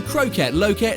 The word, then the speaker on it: Kroket Loket: It rhymes, it's Dutch and it's delicious. As the name may suggest, the Kroket Loket serves a wide variety of kroketten.